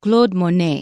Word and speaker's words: Claude Monet: okay our first sentence Cloud Monet and actually it's Claude Monet in French but we use an American pronunciation Claude Monet was a French painter